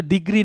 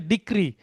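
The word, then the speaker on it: decree: লাগবে প্রথমে আছে ডিগ্রি এটা কিন্তু ডিগ্রি না ডিগ্রি বলতে আপনি এসএসসি এইচএসসি পাস করেছেন ল পাস করেছেন তখন আপনাকে দেওয়া হবে ডিগ্রি কিন্তু ডিগ্রী এবং ডিগ্রীর মধ্যে পার্থক্য আছে এটা হচ্ছে ডিক্রি দেখেন এখানে হচ্ছে ক র ফলা রসকার আবার ইংরেজিতে সি আর ডাবলই এখানে জি নাই কিন্তু এবং উচ্চারণ পার্থক্য আছে অনেকেই জি ডিগ্রি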